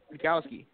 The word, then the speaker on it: Rudkowski: Because that's how it's spelled. Rudkowski. Right? We are yeah, change it's pretty simple. And it's Polish. It's a Polish name.